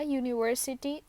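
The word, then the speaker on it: university: इसलिए यूज नहीं किया यूनिवर्सिटी प्रोनाउंस करते हैं तो साउंड में स्टार्ट में जो साउंड आ रही है वो वा की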